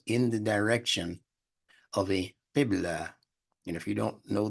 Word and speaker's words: qibla: Now, Muslims are taught to turn themselves in the direction of a qibla. And if you don't know these words, just pronounce them to yourself at home as I pronounce them.